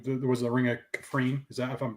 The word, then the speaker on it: Kafrene: But that ending, knowing that you're literally seeing Cassian go to there was the Ring of Kafrene. Is that if I'm pronouncing it correctly? Yeah, Kafrene.